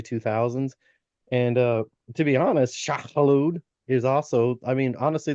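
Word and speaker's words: Shai-Hulud: thing I want to talk to you in pop culture is Shah Halud. Oh, And I did yes. I did pronounce that right because Shah Halud not only That was really good, actually.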